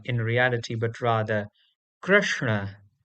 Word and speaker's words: Krishna: Similarly, one of the most famous names out of India, the word Krishna is not Krishna in reality, but rather Krishna. Krishna.